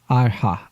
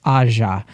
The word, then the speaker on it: Aja: to correct myself again I said aha again because it's like what I default to it's Aja it's cuz I bring Spanish into it I'm sorry that's okay